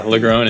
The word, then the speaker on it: LaGrone: any further ado I present to you LaGrone it's LaGrone right the groans yeah yeah I'm really impressed that you got it right I've heard LaGrone ei4 so yeah LaGrone is good job oh I mean I could